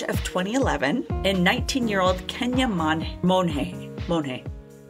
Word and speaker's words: Monge: So it's March of 2011, and 19-year-old Kenia Monge. Like the artist Monet, or like Monge, like, yay, it's Monday. Or yay, like, it's Monge. Monge. So it's spelled M-O-N-G-E, but it's Monge.